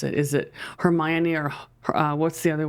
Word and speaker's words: Hermione: yes yes yeah and we Japanese people said hamoni okay I think that's pretty close hamayon is the correct version but that's actually Katakana